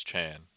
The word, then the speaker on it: Chan: And if you didn't know, his name rhymes with man because it's Chan.